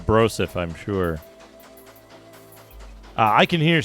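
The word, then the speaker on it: brouzouf: a minor come adventurer it's spelled like b-r-o-u-z-o-u-f that's pronounced broseph I'm sure I can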